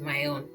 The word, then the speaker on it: Maon: All right, left from Saul, and then so David at that time and his men were at Maon, so I pronounce it Maon, and in the plain of the south of Jeshimon.